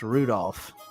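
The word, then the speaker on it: Rudolf: tell you that that mess of characters just pronounced Rudolph haha he must must hate grandfather for giving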